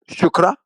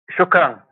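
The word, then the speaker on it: شكرا: How do you say thank you in Arabic? Shukra. Thank you. Shukran. Yeah. Shukr. Shukr. Yeah. Shukran.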